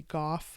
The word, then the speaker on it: Gough: Defense Department spokeswoman Susan Go, it looks kind of like, or it might be Goff. I'm saying these names completely wrong. It's spelled Gough, issued a statement saying